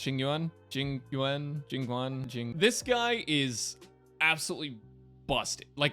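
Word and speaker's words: Jing Yuan: Next up is going to be, I believe his name's pronounced Jingyuan.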